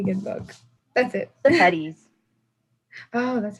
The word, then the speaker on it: Sepetys: The Petties.